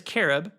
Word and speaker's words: cherub: I forget that a lot of times in the Bible, uh, in the Hebrew, the ch is pronounced like a k. And so technically, it's carob. Uh, singular is carob, plural is carm.